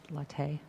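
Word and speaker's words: Lartey: the list is charlotte letray i think i said that wrong latte and i know i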